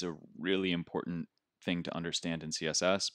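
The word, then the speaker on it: !important: one it's called important it's got an exclamation point the beginning but just pronounced important and this is something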